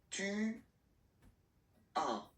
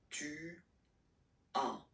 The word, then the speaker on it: Tu as: Tu as. Okay? As usual in French, final S is not pronounced. Tu as.